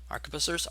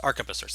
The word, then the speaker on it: arquebusiers: Arquebusiers. That's how it's pronounced. Sorry, it's been a while. I know how to pronounce these words, and then I'll actually start playing, and how to pronounce them will fall out of my head. So it's arquebusiers. At least I think it is.